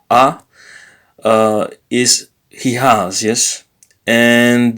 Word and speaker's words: ha: So the verb ha, so is a verb, so which means he has, yes, ha, no, sorry, not ha, but a, is he has, yes, and the infinitive of the verb is avere.